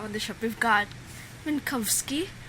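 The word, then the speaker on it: Minkowski: the sh we've got minkovski how do you say it minkovski minkovski for much of the podcast Doug calls him mski I'm like no it's Kowski it's it's it's giving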